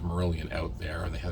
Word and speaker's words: Marillion: their name was pronounced I think for a little bit I was kept pronouncing it as Marian because I m a r i l l i o n okay was it was it Marian like like like caran but no it was merilan and uh I was